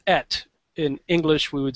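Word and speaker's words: את: all over the Bible, and also that it's pronounced et.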